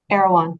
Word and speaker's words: Erewhon: And you start with, do you pronounce it Irwan? Erewhon.